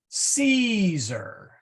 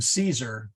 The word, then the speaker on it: Caesar: say that again please there are no C's in Latin that are pronounced like an s o for example Caesar we say that in English Okay c-e-a-s-e-r that's if you